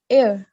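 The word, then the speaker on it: heir: नहीं, ये प्रोनाउंस जो हम सही से करते हैं ना, इसको हम बोलते हैं एयर, ठीक है। एयर। जो ए सही साउंड। प्रोनाउंसिएशन है ना, वो एयर बोलते हैं इसको।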